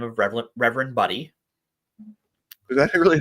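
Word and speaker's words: Budde: And one of the people speaking was the Episcopal Church's bishop for Washington, D.C., a woman by the name of Reverend Buddy.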